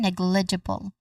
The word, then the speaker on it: negligible: All in all, we get negligible. Again, negligible. The stress is on the first syllable, negligible.